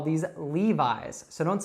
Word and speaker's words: Levi's: Now in the United States, we would call these Levi's. So don't say Levi's or something like that.